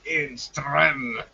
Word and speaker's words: Enström: Is it Einstrom or is it Edstrom, or is that pronounced in some other fashion? Enström.